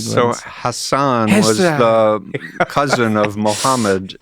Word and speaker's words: Hassan: Hassan. Hassan. Okay. Like Maggie Hassan.